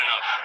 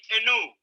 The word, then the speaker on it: enough: I had enough. Or should I say, enu? Enough.